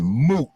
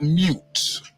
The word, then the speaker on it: moot: me just tell you the term is moot not mute so when somebody says